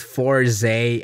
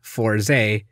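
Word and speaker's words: Fourze: fosei and jiyou respectively maybe you could get away with four zee and zeo in english since that's how they appear but there's a huge difference between their intended english pronunciations and what it appears to be fosei forze jio stage clothes this is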